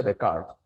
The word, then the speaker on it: Descartes: Sí, lo que pasa es que se pronuncia Descartes.